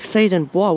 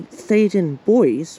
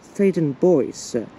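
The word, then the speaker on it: Theydon Bois: men's bathroom so most people actually tend to mispronounce the station as like th and Bo which is see French first by removing the S but it's actually thaden boys or thaden boys but there's no consens consensus look that's a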